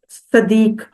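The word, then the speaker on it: صديق: तरह आप याद रखेंगे स्वाद के ऊपर अगर जबर हो ना तो वो होता है दोस्त वाला सदीक और उसमें दाल एक दफा प्रोनाउंस होता है ठीक है सदीक और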